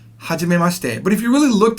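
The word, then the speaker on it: はじめまして: Now that she near the end is not pronounced fully. It's kind of compressed up against the te sound. So it's not hajime mashite. That would sound very foreigner. You don't want to sound like a foreigner. You want to at least sound close to the Japanese way it's pronounced. So you're going to go ahead and compress it to hajime mashite. Mashite. It's almost like the I isn't there.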